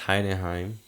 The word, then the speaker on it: Heidenheim: Bayern did win their last game against Heidenheim. I think that's how you pronounce their name.